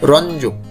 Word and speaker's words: রঞ্জক: সঠিক উচ্চারণ হচ্ছে রঞ্জক।